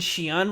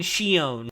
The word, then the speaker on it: Shion: They pronounce Mion and Shion wrong. Well, I don't know if they pronounce it wrong, but they pronounce it really weird. They pronounce it Mion and Shion. Oh, well, that's them trying to mimic the Japanese way.